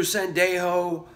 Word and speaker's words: Sendejo: Again, Andrew Sendejo, kind of iffy about the move. Like it for depth. Hate that his name rhymes with Pendejo.